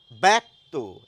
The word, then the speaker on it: ব্যক্ত: ব্যক্ত একইভাবে এখানে একটি আকার এসে যায় উচ্চারণে।